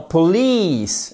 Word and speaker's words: police: Par exemple, dans police, c'est comme le I de police en français.